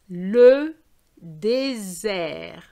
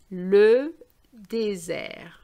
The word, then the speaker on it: désert: So the first one is the snake sound, and the second one is the worm sound. I know they're silent, but you know what I mean.